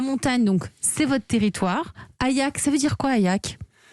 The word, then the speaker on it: Ayaq: Ayak, ça s'écrit A-Y-A-Q.